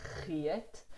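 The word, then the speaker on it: geëet: That is when it splits the word, but look at those E's. How do you go? Geet. So you just go ge and eet. So after the diaresis, it creates a syllable.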